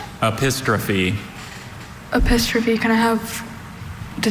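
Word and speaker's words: epistrophe: Apistrophe. Are there any alternate pronunciations? There's just the one. Apistrophe.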